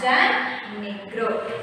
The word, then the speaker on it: Jan Nigro: Okay, so the poet's name is Jan Nigro, Jan Nigro, Nigro. Okay, so you have to pronounce it as Jan Nigro.